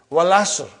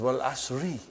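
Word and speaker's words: والعصر: Wal Asr. But it is Wal Asri.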